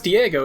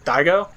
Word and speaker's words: Daigo: And as long as Diego is still alive, or Daigo? It would be Daigo. As a kid, I pronounced it Diego because I knew nothing about Japanese, but this is definitely Daigo.